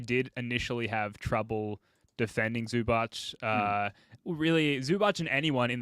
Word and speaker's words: Zubac: Zubats. Am I saying that right? Zubac. Yeah, we can go with that.